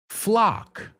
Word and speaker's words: flock: The second one is flock. Lock. Sock. Okay. Okay. Talk. Tick tock. Tick tock. We don't say, we say talk. Tick tock. Tick tock rhymes with flock.